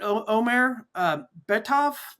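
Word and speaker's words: Omer Bartov: New York Times, um, was it is it Omar U Bav is that the the genocide scholar, am I pronouncing his name right?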